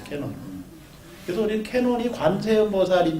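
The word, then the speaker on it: Canon: 그래가지고 관음이라고 한자로 썼는데 관음이라고 하니까 이제 세계로 나가는데 종교적 벽도 있고 하니까 그냥 캐논, 그 일본말 발음을 그대로 쓴 거예요. 캐논.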